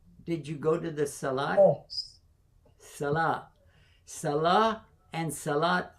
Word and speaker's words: salat: Did you go to the salat? Oh. Salah. Salah and salat are the same word, but you pronounce the T, the sound of T, if you're continuing.